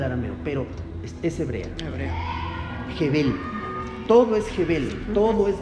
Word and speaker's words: hebel: versión La palabra es jebel con h se escribe evel con h y b grande h e b e l evel pero se pronuncia jebel con j evel jebel esa es